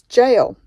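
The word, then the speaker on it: gaol: I thought it was gale or something like that until it was annoying me that much that I had to ask Google how to say it. and a load of videos came up on YouTube on how to say it. It's jail.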